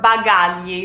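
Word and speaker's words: bagagli: airport it will say began ye began ye is luggage began ye kind of a hard word to pronounce because the GLI is like ye bag a ye like I said in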